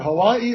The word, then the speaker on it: Hawaii: You know, is it Hawaii or Hawaii? He said, it's Hawaii.